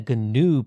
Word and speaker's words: GNU: and better bluetooth support up to this point gnome had been a ganu project hence the intentional pronunciation of the g at the beginning but late in the